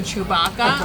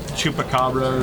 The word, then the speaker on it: Chewbacca: I'm still trying to remember whose name you were mispronouncing. It was Chewbacca. You're like, you mean Chewbacca? Oh, that's right. But I said it completely wrong. Chupacabra or something.